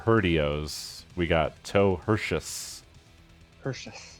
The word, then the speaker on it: Perseus: Perseus. That's the proper pronunciation. Obviously, Yeah. that's the Greek. Right. Yes, the Greek accent.